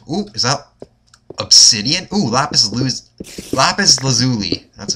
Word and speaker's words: lapis lazuli: Ooh, lapis lazuli. That's how you pronounce it.